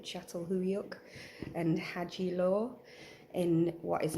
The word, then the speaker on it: Çatalhöyük: Archaeological finds from sites like, let me just get the pronunciation right, Çatalhöyük and Hacılar in what is now modern Turkey, but back then Anatolia.